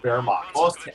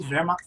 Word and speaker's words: Wehrmacht: We learned from Florian, our native German speaker, how to pronounce Oster. I still can't do it. I still have trouble with Wehrmacht. No, you did Wehrmacht very good.